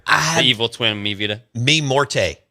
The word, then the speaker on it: Mi Muerte: Mi Morte. Yeah. Did I say it right? Yeah, Mi Muerte.